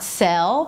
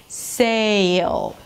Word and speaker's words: sail: So it's not sell, but if you're adding a y sound, sail.